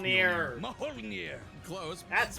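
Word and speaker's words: Mjölnir: Boomstick, come on, by this point you know it's pronounced Mjolnir.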